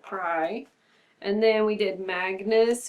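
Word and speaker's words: prae: but now it's like pray, I think is before? Yeah, before, or pry is how you pronounce it, pry.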